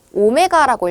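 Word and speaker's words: ω: 우리 ular 3는 자 이거 W 아니고 오메가라고 읽어요 greak L 오메가 자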